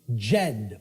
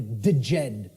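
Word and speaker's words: Djed: was known as the the Jed or the theed pillars depending on how certain people pronounce it and these Jed pillars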